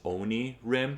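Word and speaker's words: Onirim: more shuffling so and I do think the pronunciation is Oni Rim because Oni means devil or nightmare or demonic in Japanese and then Rim is like you know the edge onim it's not onim it's not onim it's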